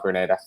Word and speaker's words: Grenada: But it became an English colony, and yeah, they call it Grenada.